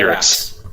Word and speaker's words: Gyrax: Gyrax. Yeah. Gyrax. Okay. Gary Gyrax. I will fuck up all the time and pronounce it Gygax.